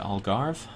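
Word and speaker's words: Algarve: I go to war there's a silent e in Al so what is it all garve the more you know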